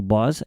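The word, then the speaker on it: Boz Scaggs: to Me by Now, I think I'm pronouncing this right. Bos Scaggs. Or it could be Bose, but I'm pretty sure it's No, it's Bos. It is Bosag. Yep.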